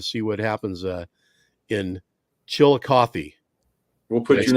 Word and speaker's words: Chillicothe: what happens uh in chillicothe we'll put your name on the list did i did i say it right chillicothe you got it chill coffee hallelujah man hallelujah all